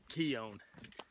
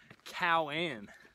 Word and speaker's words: Keown: end up pronouncing it Keown but it's actually a Cherokee word I don't look for